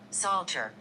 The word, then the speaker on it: Psalter: Psalter.